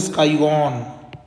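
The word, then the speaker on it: scion: में उसके ऊपर लगाया इसको बोलते हैं स्काईऑन, स्काईऑन। ठीक है, स्काईऑन इसको ऐसे कहा जाता है। ठीक है, कई सिकन भी बोल देते हैं, वो आपके ऊपर डिपेंड करता है, स्पेलिंग आपको जरूर आनी चाहिए।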